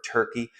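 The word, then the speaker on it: Türkiye: is where present day Iran Iraq part of turkey which by the way as of a couple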